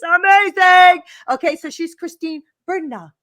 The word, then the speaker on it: Bernat: Okay, so she's Christine Bernat. You don't pronounce the T, I was told.